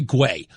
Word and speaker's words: Guay: Guay, Marty Guay.